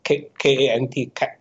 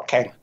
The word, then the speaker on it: Kant: ago, philosophers like Kant, K-A-N-T, Kant. You pronounce Kant or Kant? Kant.